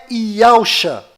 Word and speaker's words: Yahusha: E a pronúncia é Yahusha.